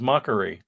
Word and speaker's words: Makari: Mark says that Jack pronounced Makari as mockery.